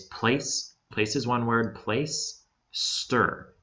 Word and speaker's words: Placester: place places one word place stir it's it's like you're placing something in the spot and then stir like stirring a drink place stir okay and